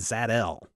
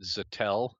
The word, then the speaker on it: Zat-El: Well, they don't find Zod there, but they do find Zat-El. I pronounce it Zatel. No, it's Zat-El. Zat-El. If it's Kal-El, it's Zat-El.